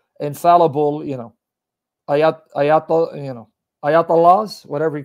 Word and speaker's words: Ayatollah: about the ayatollah khomeini the way you're pronouncing english because you know we english people we butcher every language it's ayat allah meaning sign miracle of